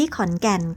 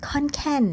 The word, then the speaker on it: ขอนแก่น: พัก อาศัย อยู่ ที่ ขอนแก่น ค่ะ ชื่อ ต่าง ๆ ที่ เป็น ภาษา ไทย ออก เสียง ให้ ชัด เจน ไม่ ต้อง ออก เสียง ว่า I live ค่อน แค่น นะ คะ ข้อ 7 บอก